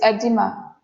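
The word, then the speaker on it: oedema: Next is edema. O is silent. Okay. Edema.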